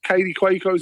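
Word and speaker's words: Kaley Cuoco: Or how do you say her name? Katie Quo. That's how you say her name. Yeah. Like genuinely, that's how her name is said.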